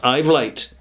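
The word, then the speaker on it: Uitvlugt: It's pronounced Ivlite, okay?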